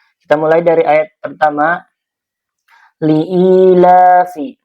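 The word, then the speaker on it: لإيلاف: Liilafi. Di sini ada i. Ini mad tabi'i ya. Karena ada ya sukun sebelumnya kasrah dibacanya dua harakat.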